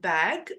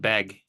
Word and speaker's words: Begg: yeah it's it's uh it's pronounced like it's spelled beg b e g g so like the word beg it's just they added